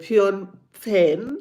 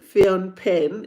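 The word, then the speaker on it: Phnom Penh: i don't want to say it wrong H Fon pen Fon pen and I said it right before this live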